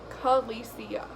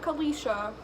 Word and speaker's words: Kalicia: But it's pronounced Kalicia. Not Kalisha, Kalicia.